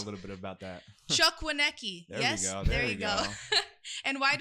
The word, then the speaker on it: Chukwuneke: I wrote your pronunciation, too. Doesn't say I'm laughing, but I got a little bit about that. Chuck Wanki.